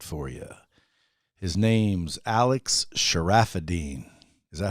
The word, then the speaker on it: Charafeddine: His name's Alex Charafeddine. Is that how you pronounce it? Yes, sir. You nailed it. Charafeddine. Charafeddine.